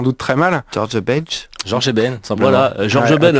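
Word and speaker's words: Jorge Ben: Alors George Eben, je le prononce sans doute très mal. George Bench. Georges Eben, simplement.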